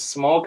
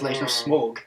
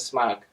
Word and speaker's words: Smaug: say it wrong yeah did I say smog you said smog we we were talking about this at the beginning and you're like oh smog no it's not smog desolation of smog smog smog yeah so